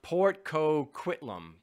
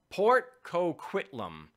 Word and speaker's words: Port Coquitlam: the end no somebody's correcting me here it's pronounced Port Coquitlam Port Coquitlam Port Coquitlam yes in British Columbia so thank you Doug